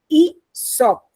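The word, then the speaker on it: Aesop: है ना ये आप ए ई एस ओ पी नाम तो ऐसे लिखा है बट हम इनको प्रोनाउंस कैसे करते हैं ई शॉप ठीक है ही वास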